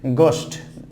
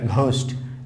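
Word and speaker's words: ghost: দেন হচ্ছে গোস্ট, আমরা কিন্তু এখানে বলি না ঘোস্ট, ঘোস্ট নয় গোস্ট, গোস্ট, গোস্ট নট, এখানে এই সাইলেন্ট থাকতেছে।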